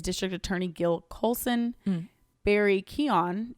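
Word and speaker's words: Keoghan: attorney gil coulson barry keon even though as i looked this up it looks like it's pronounced kyogen absolutely not keon is the unseen arkham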